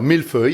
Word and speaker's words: mille-feuille: What is a mille-feuille, and am I pronouncing it correctly? Alors, mille-feuille, yeah, you just did it rightly.